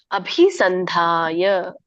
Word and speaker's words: ಅಭಿಸಂಧಾಯ: ಅಭಿಸಂಧಾಯ, ದೊಡ್ಡ ಮಹಾಪ್ರಾಣಗಳಿದೆ, ಅದನ್ನ ಗಮನಿಸಿ ಹೇಳುವಾಗ ಒತ್ತಿ ಹೇಳ್ಬೇಕು.